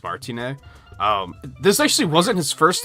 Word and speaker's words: Martinet: I'd assume that the T is silent, so I'm assuming it's Charles Martinet.